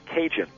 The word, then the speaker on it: Cajun: French territory and um these acadians from Canada the term ended up being pronounced cinjun so your Louisiana Cajun